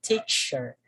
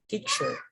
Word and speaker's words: teacher: We say teacher, teacher, teacher. So by listening attentively, the stress still fall on the first syllable.